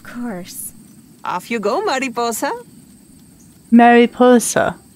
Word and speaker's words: Mariposa: Mariposa. That's how you say her name.